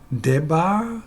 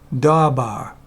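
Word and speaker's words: דָּבָר: Debar? I think not. Actually, this is how you pronounce it. Dabar.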